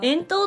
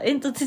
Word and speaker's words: 遠投: 学生あるよあ遠投って読むんだ煙突じゃなかったぷぷプププ遠投